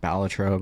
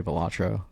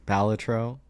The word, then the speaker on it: Balatro: And a lot of, I know it's pronounced Balatro, but I'm always going to say Balatro. That's my jam. I thought it was called Balatro. I've always heard people call it Balatro. Apparently, it's Balatro.